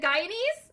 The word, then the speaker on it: Guyanese: My French brain wants to pronounce G-U as a Guy.